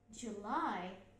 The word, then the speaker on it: July: Then July, July, July, এটা হচ্ছে J. O, L, I, তাহলে July, এখানে stress হবে second syllableটা, July, July, lightest stress হবে, July, July, July, খেয়াল করে দেখুন, July,